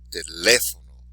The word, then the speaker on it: teléfono: So even though it ends in a vowel, we're not going to say the second to last syllable. We're going to do it where the exception to the rule is.